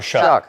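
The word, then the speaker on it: Shough: Tyler Shuck.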